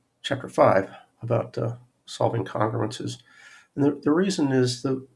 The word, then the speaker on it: congruences: here i've always said congruences with the emphasis on the first syllable but there are people